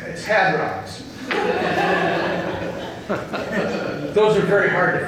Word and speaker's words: hadrons: And then you also have leptons or gluons, and then my favorite, hardons. Oh, I'm sorry, I mispronounced that. It's hadrons.